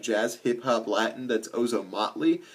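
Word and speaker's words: Ozomatli: like that's like jazz Hip Hop Latin that's ozom mle it's spelled o z o m a t l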